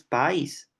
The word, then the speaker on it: país: yo digo Oye pero país lleva tilde porque que es una palabra no es país es país sea hay una secuencia vocálica que se articula en sílabas distintas sea hay un yato